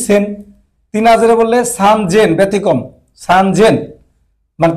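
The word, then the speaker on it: 三千: 3000 বললে সান জেন, ব্যতিক্রম, সান জেন, মানে 3 যদি 3 না দিত তাহলে হয়তো সেন হইতো, সান সেন হইতো। কিন্তু ওরা সান সেন না বলে বলে সান জেন, ব্যতিক্রম রাখছে, এটা 3 দিছে, সান জেন।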